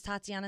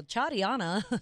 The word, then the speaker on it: Tatiana: know but you know I tell people my name is Tatiana and they go cha Dianna they say Tatiana Tati